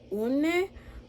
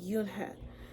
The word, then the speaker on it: Unhei: Unne? The girl asked, scrunching up her face. Unne, some kids chanted. No, Yunha corrected. It's spelled Unhei. It's pronounced Yunhe.